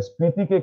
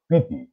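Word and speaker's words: Spiti: দীর্ঘ 60-70 বছর ধরে এই ভুলটা আমরা করে এসেছি, কিন্তু এই তিব্বতী শব্দটা আসলে হচ্ছে পিতি, এসটা এখানে সাইলেন্ট থাকে।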